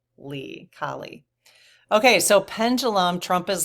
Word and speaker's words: Kali: But I have a pronunciation here, K-A-H, Kali.